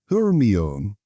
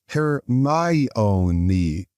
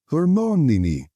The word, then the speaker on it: Hermione: He kept calling her Hermione. Hermione, she said, slowly and clearly. Hermione.